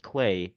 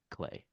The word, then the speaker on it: Klai: again and say, "Okay, I see why it's pronounced clay."